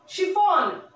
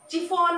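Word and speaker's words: chiffon: ওয়ার শিফন saris, শিফন, সি এইচ যদিও শা উচ্চারণটো আহিছে, এস এইচ উচ্চারণটো আহিছে, শিফন, চিফন বা চাইফন বা কাইফন, কিফন নহয়, শিফন।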